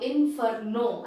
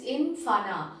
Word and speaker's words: inferno: It is not inferno as it is written there. The pronunciation is infana, which means hell, a large fire.